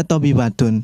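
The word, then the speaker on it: طبيبةٌ: What I like mumarridotun Kenapa dibaca tobibatun padahal sebelumnya aminatu dibacanya tidak bertanwin fatimatu dibacanya tidak bertahan diri Kenapa tobibatun mesti bertanwin karena bukan nama orang karena bukan nama orang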